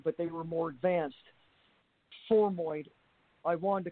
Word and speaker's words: formoid: Spell that for us, please. Formoid. F-O-R-M, like form, and then oid, O-I-D. Oh, okay, formoid.